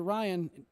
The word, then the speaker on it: Ryan: said, but honestly, comes from the West Virginia dialect of her and other people saying my name, because in West Virginia, Ryan goes from 2 syllables to 1 syllable.